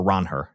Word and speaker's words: Ranger: And the double came off Ranger Suárez, or Ron Her, as I believe is the correct correct pronunciation that he brought up in his Red Sox press conference.